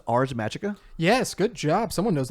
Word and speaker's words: Ars Magica: So next we have, I think it's pronounced Ars Magica.